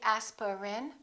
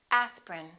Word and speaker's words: aspirin: a list of words each one of these words contains one vowel one syllable which is not pronounced look at these words and repeat after me aspirin don't say asperin say aspirin evening evening family family